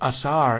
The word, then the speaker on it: Osiris: Incredibly, the name Osiris, pronounced Asar in Egyptian, was written in hieroglyphics